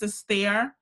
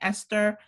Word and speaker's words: Esther: deep dive with &K my name is Astaire short for I also don't call me Esther even though it's spelled like that this is Kerry also